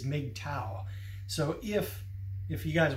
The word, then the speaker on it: MGTOW: since 2012 I've called I've called mgtow big toe I've always done that sometimes for all these years but gradually it's been extort of pretty much accepted that the way it's pronounced is made towel so if if you